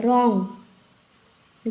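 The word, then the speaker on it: wrong: ध्यान में रखना है आर से पहले डब्लू आए तो साइलेंट हो जाता है रंग गलत यहां पर भी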